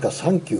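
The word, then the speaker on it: サンキュー: Today, March 9, is pronounced as “sankyu” in Japanese which resembles the English word for “thank you.”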